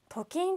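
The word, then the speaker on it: と金: はありませんこれはトと書いてトキンと言います貯金ということは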